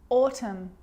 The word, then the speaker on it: autumn: because when i'm explaining the silent letter n it actually is silent when it's next to m confusing huh let's look at some examples damn like damn it damn autumn autumn him him a